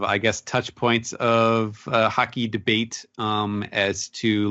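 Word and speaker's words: haki: out to me that Blackbeard pronounced ambition as hockey and after listening in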